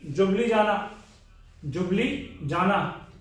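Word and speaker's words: Ljubljana: Slovakia and Slovenia की जुबली जाना, ठीक है। वो इसे लिखियो, पर उसकी प्रोनाउंसिएशन जुबली होती है।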